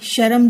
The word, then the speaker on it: शर्म: मुझे बहुत शर्म आ रही है, नहीं, शर्म जो है वह गलत है।